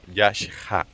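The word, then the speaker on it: Yaxhá: En maya, como nos explicaba Ricardo, la X se pronuncia como CH, digamos, como SH, y la H tiene sonido, por eso se pronuncia Yakha.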